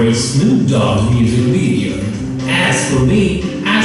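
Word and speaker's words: Ayds: Those were called A's. 1 year later, a first case of AIDS was detected. Although it's spelled a bit different, it is pronounced the same.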